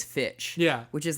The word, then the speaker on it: Fitch: girls who wear uh i say finch as well it is fitch yeah which is like